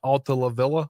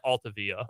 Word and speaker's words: Altavilla: because they put uh ala lavilla or alaa on uh I think you added a syllable I think it's just altavilla Al yeah added one